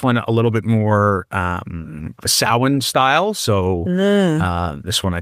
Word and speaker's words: Samhain: If you're hearing Samhain, when you see it spelled Samhain.